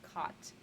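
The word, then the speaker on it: qat: And then another one close to amphetamine, cot, it's Q-A-T, pronounced cot.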